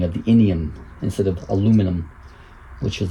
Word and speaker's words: aluminum: As the name implies, the al part is aluminum, or aluminium if you pronounce it that way.